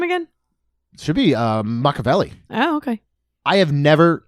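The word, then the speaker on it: Machiavelli: it on the top 10 and that is Mavelli um from Luca. the cat. How do you say his name again? Should be uh Makaveli.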